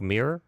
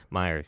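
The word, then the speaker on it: Mirer: Rick Mirror, who's an NFL quarterback. Did I pronounce that right? Meyer. Meyer.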